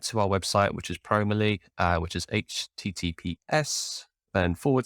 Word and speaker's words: Promoly: our website which is promerly which is https then forward slash then promo dot l y that's pronounced probably and then create a